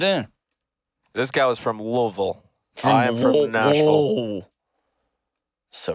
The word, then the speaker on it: Louisville: This guy was from Louisville. I am from Nashville. So ridiculous. Louisville is how it's spelled, but Louisville is how it's pronounced.